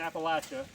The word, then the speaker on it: Appalachia: We have just finished day one of Appalachian Adventure 2025 slashadventure wheelers east 2025. I'm going back to my roots. We're in Appalachia. Okay, that's how you pronounce it.